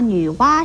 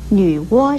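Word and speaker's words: 女娲: 最后要提出来的是，有人把女娲室念成了女窝室，把瓜牛念成了蜗牛，这都是不正确的，请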